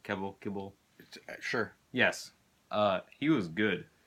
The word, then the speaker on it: Kebbell: Is that how you pronounce his name? Kibble.